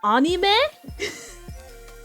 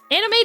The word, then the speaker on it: anime: sound like weeb, but technically anime is anime. God, I felt awful even saying that. But it's it's it's an a sound.